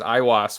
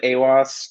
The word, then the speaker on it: Aiwass: you did it was i had been saying it as iwas for like five months now so it's one of those things that i don't i don't even know how you're actually supposed to pronounce it so i i go with awos um but you know